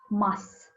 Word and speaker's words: must: don't pronounce them and how do you say must when you are speaking quickly we usually don't say must we just say mas while speaking quickly for